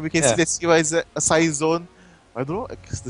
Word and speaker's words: Cyzone: then I call Cyzone Cyzone. I see. Because CYZ takes 3 syllables, while Cyzone takes 2.